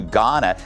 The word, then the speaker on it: Ghana: LA Mayor Karen Bass is demanding an investigation into her trip to Ghana. The H is silent.